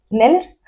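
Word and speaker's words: Kneller: Y la familia, la K antes de la N, no tengo muy claro cómo se pronuncia. Yo creo que no se pronuncia la K. ¿Neller? Yo creo que Neller. Neller, pues la familia Neller, que eran judíos alemanes y que desaparecieron tras darle absolutamente todo su dinero. Es como knife, el cuchillo en inglés. Knife. Tú no pronuncias la K, ¿no? No. Pues, es que Neller, ya está, ahí está. Pues, le pagaron todo, absolutamente todo, y desaparecieron.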